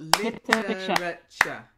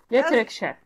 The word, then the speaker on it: literature: easy the chat literature so you got literature think about the syllables there's four syllables there the yeah yeah okay Rick chef literature that's it yay well